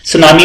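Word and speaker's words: tsunami: सुनामी में आपको पता है टी साइलेंट है, ठीक है।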